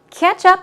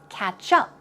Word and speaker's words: ketchup: fries and ketchup okay ketchup the stress goes on the first syllable and it's a kick at ease sound catch up here it's catch up catch up there is